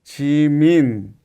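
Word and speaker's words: 지민: Y otro ejemplo, chin, chin, chimin, chimin. Si no hubiera tenido la noo, el sonido sería chimi chimi, pero con la n como va chim la pronunciación es chimin.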